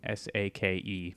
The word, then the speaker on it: sake: It's sake, S-A-K-E. I mean, that's the English translation. Sake, I think, is better pronounced.